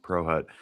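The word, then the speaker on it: Prochut: But it's pronounced Pro Hut.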